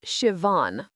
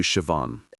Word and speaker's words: Siobhan: Sure, Shiavan, pronounced Shivan. Siobhan. Nice to meet you, Siobhan.